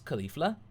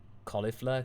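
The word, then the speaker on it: Kefla: how to pronounce it we thought it was just straight up cauliflower I think caulif or kifla kifla Mina says would you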